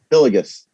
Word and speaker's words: Hillygus: Hillygus. Hillygus. Hillygus. You just put the hyphen, like if you were going to hyphenate it, Hillygus. it's between the Y and the G.